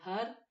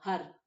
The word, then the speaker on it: Har: fois que vous prononcez Har. Et vous sentez la langue qui vient taper sur le palais supérieur, sur Har, Har, Har.